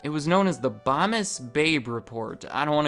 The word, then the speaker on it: Bomis: and it was called Bomis. I know it's pronounced Bomis because under their frequently asked questions, they tell me that Bomis rhymes with Thomas. Right above, does the world need Bomis?